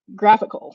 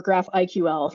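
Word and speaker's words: GraphiQL: graphql server and that's a tool called graphical or graph iql nobody really seems to be able to agree on how that's pronounced but for the purposes of what we're doing today let's call it graphical on almost every graphql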